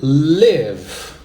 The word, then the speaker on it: live: 4, é o verbo live. É assim que pronuncia, tá? Live. Não confunda live, que é o verbo morar ou viver, tá? Com live, que se escreve exatamente da mesma forma, tá?